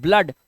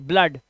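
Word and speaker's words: blood: मात्रा से पढ़ते हैं इसे पढ़ते हैं वुड वूड नहीं पढ़ते तो ये अपवाद है कुछ वर्ड्स जैसे इसे पढ़ते हैं हुड इसे पढ़ते हैं ब्लड और इसे पढ़ते हैं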